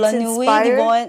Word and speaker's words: La Nuit de Bohème: And it's La Nuit de Bohème. Yes, very difficult to pronounce.